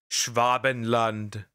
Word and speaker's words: Schwabenland: Okay, guys, you've probably heard of Schwabenland. Schwabenland. German pronunciation.